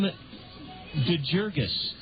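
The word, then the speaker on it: DeJurgus: by Karin Ronin that it would likely be Tim de jurgus a hard G and it is Tim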